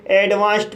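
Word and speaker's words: advanced: इसलिए डी का उच्चारण ट होगा। इसलिए इसे एडवांस्ड पढ़ा जाता है।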